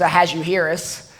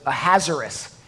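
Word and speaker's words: Ahasuerus: of has a yearís the proper way to pronounce his name as a has you Harris but that's a bit of a tongue twister so most speakers prefer to pronounce it a hazardous the hazardous is not the Kings proper name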